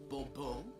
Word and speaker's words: Bourbeau: The emphasis falls on the last syllable. Bobo.